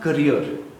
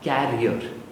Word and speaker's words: career: Toastmaster Siddharth, the pronunciation of career, not carrier. Career.